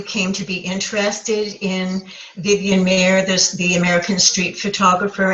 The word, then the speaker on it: Vivian Maier: this how you came to be interested in Vivian Mayer there's the american street photographer and what captured you about her story well vivian maier which is spelled ma i er worked as a nanny